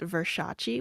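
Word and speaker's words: Verxias: have a twitch channel it's v-e-r-x-i-a-s it's pronounced versace which is again another pun on my last name um i actually won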